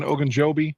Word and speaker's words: Ogunjobi: Ogunjobi?